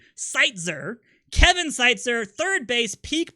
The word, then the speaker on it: Seitzer: I said it right, Seitzer.